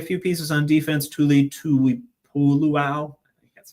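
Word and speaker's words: Tuipulotu: And uh adding adding a few pieces on defense, Tuli, Tui Puluo, that's how you say it.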